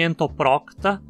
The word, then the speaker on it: Entoprocta: Em entoprocta, a penúltima sílaba termina em consoante, então obrigatoriamente leva o acento. Entoprocta. Mesma coisa com ectoprocta. No filo dos nemertinos temos